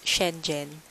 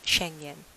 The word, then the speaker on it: Schengen: is it's pronounced as changing at all I was corrected by my cousin and I gotta balance a euro home ec - ID told last year and Sabina it's pronounced as Schengen we saw Bible anyways